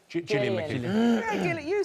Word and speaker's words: Gillian McKeith: Gillian McKeith.